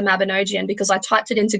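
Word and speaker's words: Mabinogion: The word Mabinogian, I've heard it pronounced Mabinogi, Mabinogia, Mabinogian, Mabingian. I've heard it pronounced so many different types of ways. And still, the one that I use is the Mabinogian because I typed it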